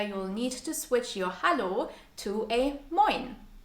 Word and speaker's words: hallo: The most commonly used phrase to greet someone in a casual or informal way is a simple hallo. Hallo. Almost sounds like the English hello.